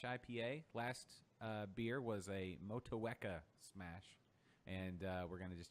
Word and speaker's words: Motueka: Motueka.